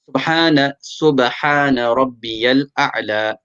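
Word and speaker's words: سبحان ربي الأعلى: Remember, take out the ha properly and a'la, the ain as well. You want to pronounce this as best as you can. Subhana Rabbiyal A'la.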